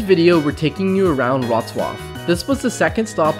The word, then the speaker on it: Wrocław: like a total gringo, like, you might say Wroclaw, Wroclaw, but that's not it. Yeah, so we had to Google the pronunciation. Apparently, it's Wrocław. Wrocław.